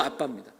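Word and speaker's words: Abba: 그리고 아람어를 살펴보면 아람어로는 발음도 아빠입니다.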